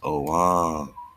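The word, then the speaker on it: Ogham: Pronounced Oam.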